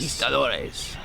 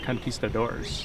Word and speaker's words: Conquistadores: Conquistadores. Yeah. It is how you say it. It's not Conquistadores. It's Conquistadores. Conquistadores.